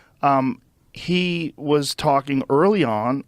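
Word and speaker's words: Vanden Bossche: Vandenbosch. Vandenbosch.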